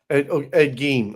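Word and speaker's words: Ed Gein: Ed Gene. Okay, that's right. That's how you say it.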